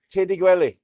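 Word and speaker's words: Tyrd i'r gwely: And she said, Tiddy Gwelly.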